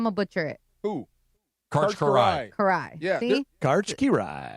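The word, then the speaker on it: Kiraly: Well, I didn't know Hungarian. They don't have L's. Did you know that? I had no idea. Well, they have them. They just don't pronounce them.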